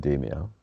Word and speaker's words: Demeo: to pronounce it right even though they themselves pronounce it as ad in their official strainers so right so let's stick with demio yes okay granted that was with a british